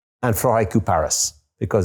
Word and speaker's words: Floraïku: So Floraïku, as in flora plus haikus, Floraïku. And Floraïku Paris, because it's French perfumery.